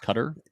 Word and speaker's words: Qatar: the state of qatar some call it guitar but i believe that it's pronounced cutter interesting yeah they've signed